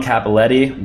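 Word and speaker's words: Cappelletti: Franco Harris Larry Johnson John capelletti believe that's how you pronounce it and saquon Barkley who's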